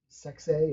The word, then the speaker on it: Sexay: Rest in peace also to Brian Lawler, aka Grandmaster Sexay. Am I saying it right? Sexy, yeah.